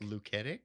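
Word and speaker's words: Luketic: Lucetic.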